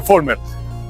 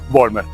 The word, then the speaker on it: Vollmer: Y la V se pronuncia como una F. Pero indistintamente se puede decir también Vollmer.